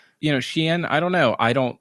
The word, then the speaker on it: Shein: Oh, it is Shein.